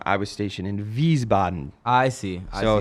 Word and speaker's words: Wiesbaden: stationed in America's you know you would say wheezebot in Germany but that's wrong I was stationed in Wiesbaden I see so it's just a little flip